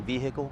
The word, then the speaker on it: vehicle: All right, so from an exterior standpoint, this vehicle, isn't it kind of weird whenever people pronounce the H in vehicle?